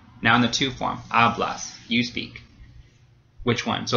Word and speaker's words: hablas: It doesn't end in a vowel, but it does end in an S. So in that case, the second to last syllable gets stressed. We have hablas. So again, the stem gets stressed here.